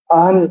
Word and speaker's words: Ahn: जैसे कि एन का स्पेलिंग है AHN, अहन ऐसे करके उच्चारण होगा, लेकिन पता नहीं वो लोग कैसे उच्चारण करते हैं हमारे जैसे इंडियन एक्सेंट के आधार पे।